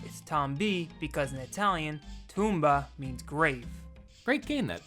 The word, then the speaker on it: Tomba: tomba you mean tomba the japanese pronunciation is tomba which will make the